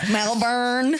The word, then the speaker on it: Melbourne: Melburn.